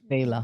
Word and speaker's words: VEiiLA: We changed a little bit the spelling to make it our own, and No, but uh, that's how it's pronounced, But yes, VEiLA.